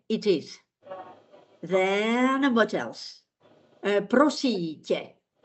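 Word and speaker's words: Prosím: Prosite. It is polite or plural. The stress is on prosite.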